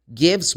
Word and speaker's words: give: Again, you don't pronounce the letter E. It's magic E.